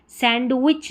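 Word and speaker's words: sandwich: ये है हैंडकरचीफ नहीं, हैंडकरचीफ, हैंडकरचीफ डी साइलेंट है। सैंडविच नहीं, सैंडविच, सैंडविच।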